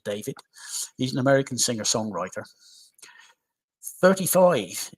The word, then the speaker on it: D4VD: His stage name is D4VD. Apparently, it's pronounced David.